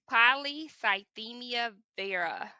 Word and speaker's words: polycythemia vera: let me say that again kind of slower polycythemia vera uh it's spelled p-o-l-y c-y-t-h-e-m-i they're a v-e-r-a listen for